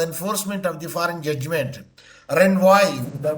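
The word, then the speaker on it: renvoi: recognition or the enforcement of the foreign judgment Ren why the pronunciation is r e n v o i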